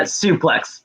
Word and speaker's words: Sooplex: do you say his name against soup uh suplex but people was doing it right the whole